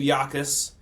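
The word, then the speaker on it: Jacas: Uh, Gabe Yakis signed. His name is His name is uh spelled Jacus, but pronounced Yakis.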